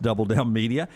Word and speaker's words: DBL Down Media: with double down media uh dbl down media but it's pronounced double down media we called him up